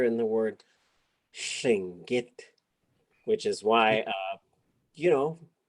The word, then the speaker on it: Lingít: But when we're speaking this language, we should be saying Lingít.